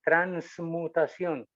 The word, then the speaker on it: transmutación: nos llamamos mutacel y hay que pronunciarla con ns transmutación si decimos transmutación o